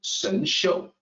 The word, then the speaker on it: Shenxiu: And I realize that this Shang XIU is probably hard to pronounce, but actually it's easy to pronounce in Mandarin, Shenxiu. It's just that it's not phonetically depicted in a way that's easy for a native English speaker.